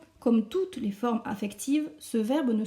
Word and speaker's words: les: Les pronoms COI sont me, te, les, nos, os, les. Je prononce bien le S du les.